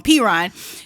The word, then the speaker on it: Perine: So, and Samaje Perine, I always say his name wrong, Perine.